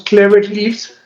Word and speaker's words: Clever Leaves: pronunciando bien me disculpara no no no lo pronunciamos cléveris pero lo importante es que conozca que conozcan